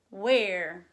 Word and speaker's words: where: Oh, and then just like when, it has that sneaky quiet H. Wuh. And then the air sound is spelled E-R-E. Wuh. Air. Where.